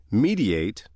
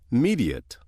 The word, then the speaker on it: mediate: And again like word six, word 12 has two pronunciations mediate and mediate. Which pronunciation you use depends on how the word functions in a sentence. If word 12 is being used as a verb meaning to bring about an agreement or to act as a go-between, it is pronounced mediate. Mediate.